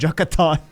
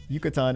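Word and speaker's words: Yucatán: I was going to call it Yucatan. And then I was like, wait a second, that's not how that's pronounced. Yucatan and earn the title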